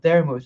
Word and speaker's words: Daramoose: I just changed the first part and added a silent E at the end, and that's how I made it.